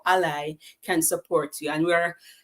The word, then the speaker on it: ALLi: in 2015 so Ali so it's a l l i pronounce as Ally like your friend it mission is to